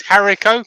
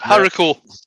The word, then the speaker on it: haricot: Katie says, Harrico? Question mark. That's what I said. Yep, Harrico. Yeah. Fried in bacon grease. All right, okay. Yeah, I've had grits before. That's an unusual taste. Harrico.